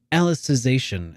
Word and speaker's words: Alicization: that's actually Alicization is apparently how this is supposed to be pronounced because it's reference to Alice in Wonderland.